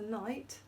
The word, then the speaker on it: knight: We had George dressed as a knight. So remember, that's got the silent K at the end, and then the trigraph T at the end.